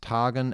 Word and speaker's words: tagen: Here the rhyme of the first and second lines is still masculine, Tagen, and Sagen being pronounced Tagen and Sagen.